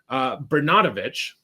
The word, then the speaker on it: Bernatovicz: So John Bernatovicz, that's how you say his name.